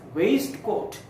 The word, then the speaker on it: waistcoat: Very often we do not know that some of the letters in words are not pronounced, and this is an example. Here we pronounce this word as waistcoat. Waistcoat. It is pronounced, but it should not be pronounced. This should be waistcoat. This should be waistcoat, not waistcoat. Waistcoat.